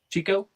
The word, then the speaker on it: Chicot: How do you pronounce that? Chico? Chico?